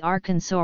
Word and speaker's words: Arkansas: word representing the sound it should be pronounced in three syllables with the final s silent the a in each